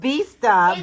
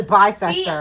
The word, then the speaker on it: Bicester: That's the way it's spelled. It's called Bista, but the shit is literally Bicester.